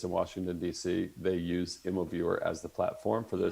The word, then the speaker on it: Immoviewer: So Immoviewer is spelled IMMOVIEWER.us. It's just like it sounds. Two M's. Just like it sounds. MO and viewer.us.